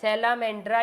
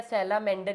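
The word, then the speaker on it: salamander: हां ये रहा सेलामेंड्रा या सेलामेंडर इसका कॉमन देखो स्पेलिंग में क्या सेलामेंड्रा डी आर ए और जब कॉमन नेम लिखेंगे तो डी ई आर हम सेलामेंड्रा नहीं बोलते हम क्या बोलते हैं सेलामेंडर गॉट इट तो ये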